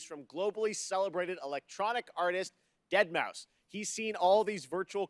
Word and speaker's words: deadmau5: joel professionally known as deadmau5 yes that is the correct way to pronounce it tell your friends we're